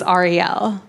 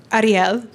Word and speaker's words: Ariel: Cuz, you know, Jews say my name one way, which is Ariel. But my dad is Spanish, and Spanish people say it Ariel. But I grew up in Kentucky, and they say it Earl.